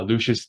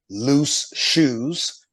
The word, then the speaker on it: Lucius: notice that I said my name rather slowly Lucius now the reason I do that is because